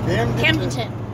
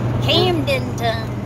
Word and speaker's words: Camdenton: Camdenton. There you go. Camdenton County. Yeah, broke it up into three little short syllables with three little words in each one.